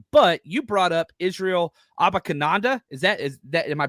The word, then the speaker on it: Abanikanda: Now, this is something that I wanted to talk about a little bit later, but you brought up Israel Abanikanda. Is that am I pronouncing? Abanikanda. Abanikanda.